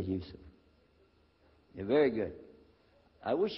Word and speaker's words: Yusuf: is youssef do you say yusuf you say yusuf you're very good i wish you teach my wife she keeps mispronouncing it she calls me useless now